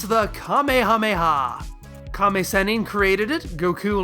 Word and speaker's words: Kamehameha: But it's pretty appropriate for a move that is often pronounced sound by sound.